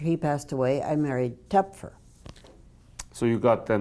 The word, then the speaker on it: Toepfer: Tep- Toepfer. How do you pronounce it? Toepfer.